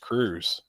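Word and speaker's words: Kruse: It's pronounced Cruz.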